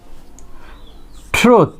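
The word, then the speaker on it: truth: ট্রুথ, আমরা অনেক সময় না জানার কারণে এটা কি অনেক সংক্ষেপে একদম শর্ট সাউন্ড প্রডিউস করে এটাকে কি বলি ট্রুথ, বাট it will be long sound, ট্রুথ, ট্রুথ নট ট্রুথ।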